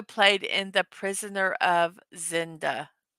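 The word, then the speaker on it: Zenda: Yes, he also played in The Prisoner of Zinda. Zinda, yep, I said it right.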